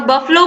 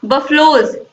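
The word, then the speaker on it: buffalo: Family का families और बफलो का बफलोज, इसे हम बफलो पढ़ते हैं, बफेलो नहीं पढ़ते हैं, याद रखिएगा दोस्तों आप लोग।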